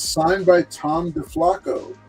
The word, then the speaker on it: DeFalco: Okay, I got Spectrum's first appearance, and it's signed by Tom DeFalco. No, it's DeFalco. Falco. Jen pronounces it DeFalco or DeFalco.